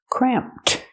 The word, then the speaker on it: cramped: Pronunciation, use the ah sound like ma'am and ham, cram, cramped, plus the T sound at the end.